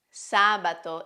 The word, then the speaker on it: sabato: The first five days are truncated words, that is, they have the accent on the last syllable: sabato and domenica are instead proparoxytone words: it means that they have the accent on the third to last syllable.